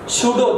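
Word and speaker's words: pseudo: आभासी इंग्लिश में बोलते हैं शूडो। क्या बोलते हैं, शूडो। शूडो के दो यार, शूडो बोलते हैं, पी साइलेंट रहता है, शूडो।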